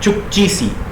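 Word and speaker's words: Chukchi Sea: Arctic ocean का ये छोटा सा हिस्सा कहलाता है चुक्ची सी। चुक्की सागर कहीं कहीं लिखा रहता है कहीं, लेकिन स्पेलिंग यही है चुक्ची सी।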